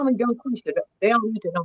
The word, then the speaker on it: DungQuesha: Let me just tell you how to pronounce it. quisha.